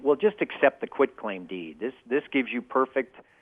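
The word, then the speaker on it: quitclaim deed: which people mispronounce as quick claim deed like it's somehow quick or easy it's not a quick claim deed it's a quit claim deed it says I quit owning whatever I may own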